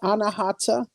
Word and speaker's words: Anahata: Am I pronouncing it correctly? I mean, it's Anahata.